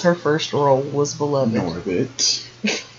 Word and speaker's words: Norbit: Girl from Norbert. Of Norbert. Now you have me saying it wrong. She's from Norbit.